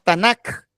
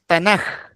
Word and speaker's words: Tanakh: la letra en hebreo, va finalizando una palabra, se pronuncia como J. Por eso no decimos Tanakh, sino que decimos Tanaj.